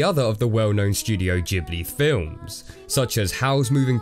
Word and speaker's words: Ghibli: a soft G and the Japanese themselves also pronounce it with a soft G so I guess technically it is Ghibli but to be honest